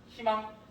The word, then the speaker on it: 희망: 여러분 아무도 흐이망이라고 발음하지 않아요. 예, 흐이망이라고 발음하는 건 너무 힘들거든요. 자, 어떻게 발음한다? 희망.